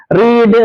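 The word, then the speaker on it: read: മാത്രമാണ് ലീഡ് ലെഡ് ലെറ്റ് റീഡ് റെഡ് റെഡ് ഉച്ചാരണം റീഡിന്റെ ശ്രദ്ധിക്കണേ past form past participle form spelling ഒന്നാണ് പക്ഷേ ഉച്ചാരണം വ്യത്യാസമുണ്ട് റീഡ് റെഡ് റെഡ് എന്നാണ് ഫീഡ് ഫാഡ് ഫാഡ സ്പീഡ്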